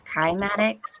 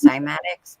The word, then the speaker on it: cymatics: It's kymatics because Kymatics. it's Greek, but a lot of people pronounce it as cymatics, but it's called kymatics.